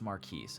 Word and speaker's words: Marquis: 27-year-old loving father and husband I think I mispronounced his last name just a second ago let go of that it's Maris okay I don't know why you're gas lining